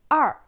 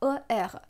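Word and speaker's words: 二: 2, en chinois, c'est er. Et pour le pinyin, on écrit comme ER. Mais ici, il faut faire attention parce que le R en chinois ne se prononce pas comme le R en français.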